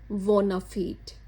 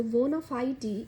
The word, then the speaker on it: bona fide: तो अगर हमने इसे लैटिन में प्रोनाउंस करना है तो मैं आपको वो भी बताती हूँ। तो वो होगा मेलाफीट और वोनाफीट, मतलब ऐसे लैटिन में प्रोनाउंस करेंगे। और इंग्लिश में तो जैसे एज यूजुअल हम कर ही रहे हैं।